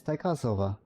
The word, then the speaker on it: Taikasova: Yeah, it's Taikasova. T-A. Yeah. It's spelled Taikasova.